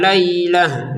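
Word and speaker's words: ليلة: Kemudian arba'ina lailah, perhatikan untuk ini kita panjangkan 2 harokat. Kemudian lailahnya huruf taknya ini perhatikan kita barusan bacanya ha ya. Lailah menjadi ha. Ini yang namanya tak marbutoh.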